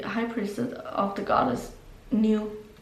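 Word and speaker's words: Nuit: You are the high priestess of the goddess New, how do you even pronounce? N-U-I-E-T, basically like night in French, I think it was.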